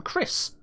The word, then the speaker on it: Chris: even use ch correctly look at for example the name chris k-r-i-s or c-h-r-i-s hey hold up why are we putting in a silent h and using the wrong letter start uh it's sounding